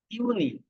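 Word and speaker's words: Juni: তারপর আছে জুন, জুনকে বলে ইউনি।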